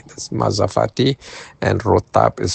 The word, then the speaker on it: rotab: And rotab is spelled r o t a b.